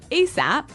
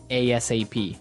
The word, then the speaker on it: ASAP: So it's an acronym, and you can say it like ASAP or ASAP.